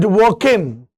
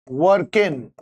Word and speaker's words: Dworkin: So we can say that Ronald Dworkin, D is silent here, in his book Taking Rights Seriously, 1977, he asserts that rights are the moral responsibility over others.